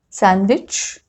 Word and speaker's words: sandwich: It is not pronounced in some common words like this: handkerchief, Wednesday, sandwich, handsome. Okay, so in all these 4 words, D has been silent.